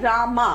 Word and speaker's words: রাম: যেরকম রাম, হ্যাঁ, রাম অর্থ হচ্ছে রামা, মানে আমরা বাংলায় বলি রাম, আসলে তো রামা, আরে এমে।